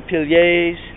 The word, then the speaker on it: piliers: So now we're in front of the pillars, the piliers, as I was corrected, that's how you say it in French.